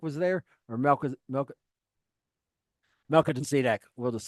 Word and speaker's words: Melchizedek: Melchizedek was there, or Melchizedek.